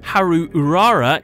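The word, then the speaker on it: 灰流うらら: girls, starting with Ash Blossom and Joyous Spring, pronounced Haru Urara in the Japanese.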